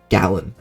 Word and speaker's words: Galan: goes to the or I think it's gallon like a gallon of milk that's how you say his name gallon goes to the